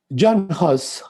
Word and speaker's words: Jan Hus: Jan Hus, if you want to use the proper pronunciation, he was concerned with moral probity.